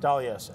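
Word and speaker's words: D'Aloisio: How you pronounce that. Dalioso. Yes. According, that's how Marissa Meyer pronounced it.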